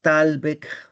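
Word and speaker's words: thalweg: siempre se dice que la frontera es el talbec del río Putumayo o el talbec del río Tal. Talbec, que se escribe Talweg, Talweg, ¿no?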